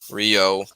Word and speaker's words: Ryo: fair there you know that's not a mispronunciation there is a um there is a character named ryo and king of fighters at least the snk universe so they're not wrong for mispronunciation you know that's technically the the correct um pronunciation actually rio that's why i chuckled